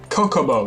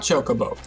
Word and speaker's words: Chocobo: Kokobo, not Chocobo. And of course then voice acting happened, and sure enough it was Chocobo. This is much easier when you learn to read Japanese, when it's like the pronunciation is like part of the writing. Of course, I argue that since it is Chocobo, just like chocolate, the Swedish version should